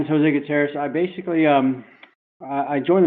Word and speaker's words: Jose Gutierrez: Today I have Jose Gutierrez. Did I say it right? That's correct, Jose Okay.